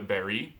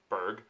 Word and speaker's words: Berg: Would be the Berry, is how it's actually pronounced, but most of us Americans call it Berg.